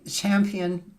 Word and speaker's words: Champian: Champ Champion.